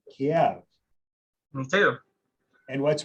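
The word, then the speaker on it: Kyiv: Kiev is the pronunciation that the Ukrainians use. And so the reason that in the last few years, news outlets and things such as that have started using that pronunciation is because it is respecting the local pronunciation in a country that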